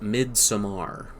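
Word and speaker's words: Midsommar: is a film that Robert Eggers would pronounce as mid Samar if you're hip you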